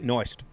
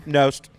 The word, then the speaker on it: Knost: Noist. Noisy. Making it Did I say it wrong? Nost. No. Close. No, there's no I in it.